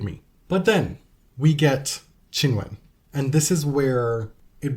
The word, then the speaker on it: Qinwen: But in Mandarin, her name would be pronounced Qinwen.